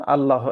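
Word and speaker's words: الله: আল্লাহ এখানে আল্লাহু শব্দ এই শব্দটাও উচ্চারণের সময় মুখটাকে ভর্তি করে পারবো আল্লাহুস সমাদ সমাদুন সমাদ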